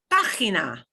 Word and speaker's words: página: Next one, we've got a G right in the middle, but it's still going to have the ch sound because it's GI. Página. Página.